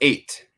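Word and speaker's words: ætt: So and it's pronounced 8.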